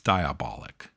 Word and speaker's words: Diabolik: like, well, again, Planet of the Vampires, Danger: Diabolik. Uh I don't know if I'm saying it I'm It's Diabolik.